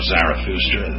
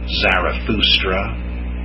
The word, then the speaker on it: Zarathustra: Zoroastrianism, named for the prophet Zoroaster, Zoroaster. That's the Greek version. It'd be closer to say Zarathustra, as the Germans do, Zarathustra, but closer still to say it Zardusht, Zardusht, Zardusht.